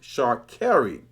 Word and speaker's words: Sha'Carri: which reminds me, Sha'Carri Richardson's name is actually pronounced Sha'Carri.